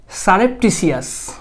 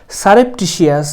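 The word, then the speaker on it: surreptitious: seven antonym করতে বলেছে সারেপটিসিয়াস pronunciation should B সারেপটিশিয়াস গোপনে শব্দটার মানে হচ্ছে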